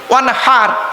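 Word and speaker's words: وانحر: ফাসাল্লি লিরাব্বিকা ওয়ানহার, উচ্চারণটা ঠিক রাখুন। ওয়ানহার, ওয়ানহার নয়, ওয়ানহার। এই গলার ভেতর থেকে হে এটা উচ্চারণ করবেন।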